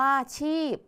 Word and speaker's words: ชีพ: วรรณยุกต์ ต่อ มา ค่ะ คำ ว่า ชีพ พยัญชนะ ต้น คือ ช ช้าง ตัว สะกด ก็ คือ พ พาน เห็น ไหม คะ พ พาน ออก เสียง เสียง พยัญชนะ ท้าย เหมือน เสียง บ ใบ ไม้ และ สระ ที่ ใช้